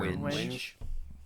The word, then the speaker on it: wenge: Wenge or Wenji or Winge. Winge. Winge. Is it Winge? It's winge.